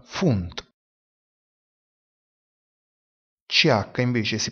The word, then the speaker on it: Pfund: La lettera P seguita dalla lettera H oppure dalla lettera F si pronuncia F. Ad esempio, filosofia, filosofie, si pronuncia filosofie. Percorso, pfad, si pronuncia fat. Libra, pfund, si pronuncia funt.